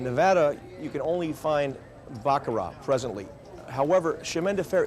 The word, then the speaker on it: Baccarat: And here we are at the famous Baccarat table. Yeah, it is spelled and pronounced Baccarat, not Baccarat.